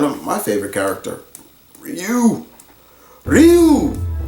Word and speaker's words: Ryu: Ryu, not Ryu. Ryu, get it right. You, or you say it like that.